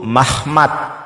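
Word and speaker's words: מחמד: Pelafalannya apa? Pelafalannya itu Mahmad ya.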